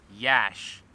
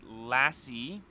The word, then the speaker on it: Iași: in a place i think called yash now we've been here for like four hours and i originally was calling it lassie then i realized there's an accent on the s so it's probably lashy then we were just talking to some locals and they informed me that it's in fact a capital i not a lowercase l so then i